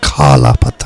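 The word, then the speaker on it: Kala Patthar: Anjana Masi, you say Kala Pathar, not Kala Pathar.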